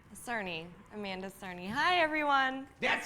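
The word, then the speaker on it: Amanda Cerny: Amanda Cernney. Hi everyone. That's how you pronounce it.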